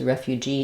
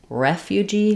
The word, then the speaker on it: refugee: Another acceptable pronunciation besides refugee is refugee with first syllable stress.